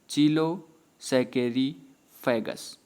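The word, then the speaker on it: Chilo sacchariphagus: चीलो पढ़ लिए, सैकेरी फैगस, ऐसे पढ़ेंगे तो अच्छे से और शुद्ध उच्चारण आप कर पाएंगे, ठीक ना।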